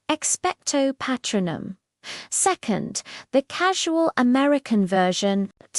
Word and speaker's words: Expecto Patronum: First, the classic British pronunciation. Notice the long O and the R vowel. It's precise and formal. Expectto patronum.